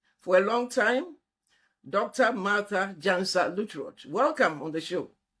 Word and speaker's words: Martha Gyansa-Lutterodt: Uh my name like you are rightly pronounced is Martha Jan Salutro and I am a pharmacist uh by training